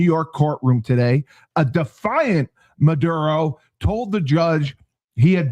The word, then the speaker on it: Maduro: edge following the US capture of President Nicholas Maduro.